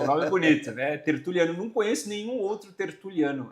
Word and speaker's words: Tertuliano: Hoje eu tenho um convidado super especial, amigo íntimo, parceiro de negócios, o doutor Alexandre Tertuliano. Pronunciei corretamente, doutor? Corretamente, Olha, Tertuliano. é um nome bonito, né? Tertuliano.